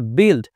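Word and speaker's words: build: করেছি গিল্ড গিল্ড মানে হচ্ছে দোষ এরপর রয়েছে বিল্ড বি ইউ আই এল ডি বিল্ড এই ইউ এর উচ্চারণ ই কেন হলো আশা করছি বুঝতে পেরেছেন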